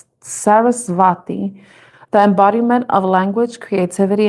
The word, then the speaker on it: Saraswati: The goddess Saraswati or Sarasvati. I think that's how it's pronounced, because I think the W is pronounced with a V. Sarasvati, the embodiment of language,